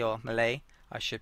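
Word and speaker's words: Melee: I've mentioned let's start out with uh discussing Mal or Malay I should pronounce it as uh so they mainly feature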